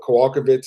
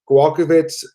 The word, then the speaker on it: Kowalkiewicz: Karolina Kowalkiewicz against Alexa Grasso. The odds opened at Kowalkiewicz. Sorry, I'm pronouncing her name wrong.